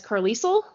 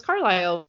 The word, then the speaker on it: Carlisle: I was like 12, I did not realize that Carlisle was a name, and I read it as Carlisle. So that's how it's spelled. And no one in my 12-year-old friend group knew that it was Carlisle.